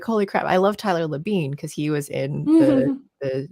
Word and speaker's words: Labine: Like so you've got Tyler, I don't know how it's pronounced, Labine, and Alan. Levine, probably. That's what I figured, it's Labine.